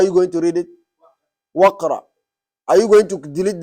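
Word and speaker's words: واقرأ: When you are pronouncing it, Waqra, do you hear Alif? No. What are you hearing? Waw and Qa.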